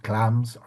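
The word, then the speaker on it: Glamis: He becomes he's Thane of Clams, as it's pronounced in Scottish, and now he's going to be Thane of Cawdor.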